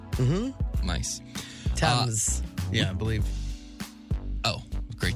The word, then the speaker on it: Thames: The Tem and the Sen? Mm-hmm. Nice. Thames.